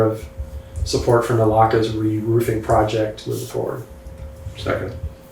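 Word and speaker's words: Naulakha: down on Kipling Road, which I refuse to pronounce because it confuses me. Say it again. Nalaka. Nalaka.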